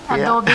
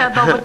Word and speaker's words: adobo: You like what I said? Adobe. Mark said adobo chicken. Now you can pronounce it adobo chicken, right?